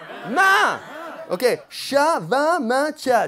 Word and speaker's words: min: But it's "m-i-n" and you say "Main"?